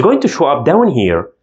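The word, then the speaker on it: ه: The following looks like this, and we pronounce it He, like H sound in English, He.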